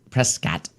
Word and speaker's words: Prescott: We went to we had a Prescott trip, and we went up we to went up Prescott. Prescott. That's what the locals call it.